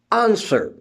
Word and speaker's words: answer: In is silent in few words like answer. ANSWER, answer. W is silent.